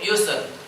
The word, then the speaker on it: يسر: Ada namanya satu busur, ada satu yusr. أيوة، هي هذا يسر وبسر، هذا اتفق الخط واختلف النطق. Tulisannya sama, tapi cara bacanya berbeda.